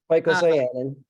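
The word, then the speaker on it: phycocyanin: correlation between unbounded -- and I'm going to butcher the name -- Phytocyanin.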